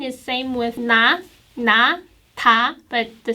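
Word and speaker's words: 다: this one and this one that sounds like t and this vowel sounds like ah this vowel sounds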